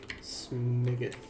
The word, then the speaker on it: Smiguth: Detective Smiggoth. Smiggoth? Yeah. Smiggoth. SMIGUTH. Yeah. 1G. Smiggoth. Okay. And then Barnaby. Could also be pronounced Smiggoth.